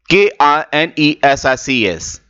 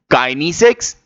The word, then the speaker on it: kinesics: The first one is Kai and second one is K.